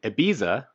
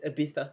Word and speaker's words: Ibiza: It was in Ibiza. What the? It's Ibiza.